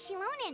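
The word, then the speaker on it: Xilonen: Oh, it's time to meet up with Shilonen. Let's ask her how things have been going. That's how you pronounce her name.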